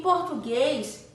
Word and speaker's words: português: Em português, né, a sílaba em destaque é o guês. Então, português. O guês tem o som fechado.